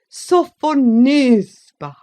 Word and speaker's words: Sophonisba: lips, and said again, with an aggravating accent on the third syllable, "Sophonisba."